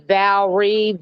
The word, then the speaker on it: Valrie: I think that my mom named me Valrie, Valrie. There's no like O or E in the middle. It's just 2 syllables.